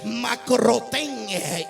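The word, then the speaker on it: μακρόθεν: O sea, Pedro, la Biblia describe que seguía al maestro de lejos, que es la palabra griega que se pronuncia macrotén.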